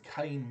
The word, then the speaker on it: Cain: Prologue, The Cain Mutiny, and that's spelled C-A-I-N without the E.